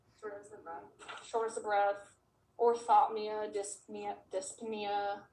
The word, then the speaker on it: dyspnea: of breath orthotia dyspnea dyspnea how you don't pronounce the p um what else um